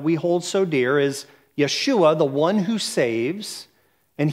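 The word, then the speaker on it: ישוע: is Jesus in Hebrew that that name is pronounced Yeshua or in in more you know um appropriately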